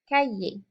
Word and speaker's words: cahier: And you've probably noticed already in learning French that the H is silent in French. So le cahier, we don't hear an H sound like we would hear in English. So cahier.